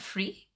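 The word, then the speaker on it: frisé: Okay, frise. Okay, because there needs to be an accent there.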